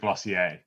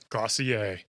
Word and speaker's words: Glossier: it how they want but the brand pronounce it glossier glossier like dossier okay I don't know